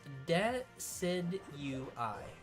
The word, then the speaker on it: Decidueye: It's pronounced Decidueye.